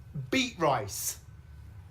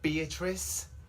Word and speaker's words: Beatrice: Beet rice. Is beet rice here? I think you mean Beatrice. Beatrice.